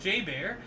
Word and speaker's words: JBER: The bear was caught on camera entering the Exchange Shopping Mall on the base, which is commonly known by the acronym JBER, pronounced J-Bear, about 9 a.m.